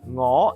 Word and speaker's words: 我: 我 is NGO. Whatever tone it is, it will still be spelled NGO.